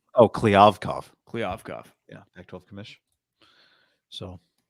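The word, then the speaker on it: Kliavkoff: Oh, Kliavkov.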